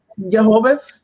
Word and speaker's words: jojoba: Jojoba. Oh, okay. Nothing I after always say that. jojoba. Like people say it Jehovah.